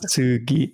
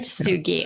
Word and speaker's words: Kintsugi: Kintsugi. That's correct. Kintsugi.